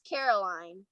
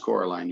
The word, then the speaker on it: Coraline: oh yeah uh-huh no that's caroline or coraline you're right it's pronounced coraline you're right uh i